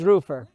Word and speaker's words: Roofr: Well, I'm going to go by how Richie pronounces it, since he's the owner and founder. Roofr. It is Roofr.